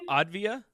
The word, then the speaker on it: Avdija: Now Danny Avdija, how do you pronounce his name? Advia.